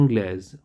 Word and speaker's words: anglais: the country anglitar only anglais so this is the the same uh thing which i did here i am not pronouncing the s here here i'll pronounce this only on anglais next is portugal the